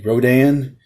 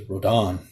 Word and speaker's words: Rodan: for rhodan so basically here we we say rodan and over there in japan they pronounce it as rodon so very interesting and